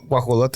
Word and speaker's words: guajolote: So like I'll say guajalote, and you'll be like bobo, pavo, or whatever. You know, it's like all different. So yeah, Well, guajolote is a Turkey. correct way to say it.